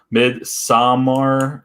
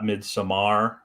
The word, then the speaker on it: Midsommar: Midsommar, it's Swedish, not Midsommar. Midsommar.